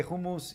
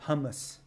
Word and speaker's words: hummus: it's through man it's she doesn't like when I say hummus she wants me to say it like Americans but they say who moves the way who moves is supposed to be said not hummus no okay so